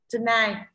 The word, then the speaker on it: tonight: Tonight là âm ơ ở đầu, Thì trọng âm thế nào đây Sơn Tùng? Trọng âm rơi vào âm tiết thứ hai ạ.